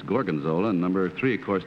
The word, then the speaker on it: gorgonzola: didn't mispronounce the name he said Morgan Zoltan it's gorgonzola and number three of